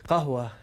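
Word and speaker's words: قهوة: Qahwa, in some parts of the world, they pronounce qaf as geems. So they say qahwa.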